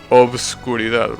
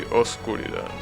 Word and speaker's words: oscuridad: You know, darkness in Spanish used to be pronounced obscuridad, right? However, as time passed, that B in between the O and the S got lifted, and now you should say oscuridad without pronouncing the B.